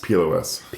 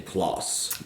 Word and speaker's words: PLOS: Is that how you say it, plus or PLOS? PLOS, the Public Library of Science. When I've heard people say, they say PLOS. PLOS. Some people say PLOS.